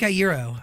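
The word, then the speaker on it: Iero: Frenk Aïro. All right. Thank you so much. By the way, I've heard your last name be pronounced a couple different ways. You got it right, by the way.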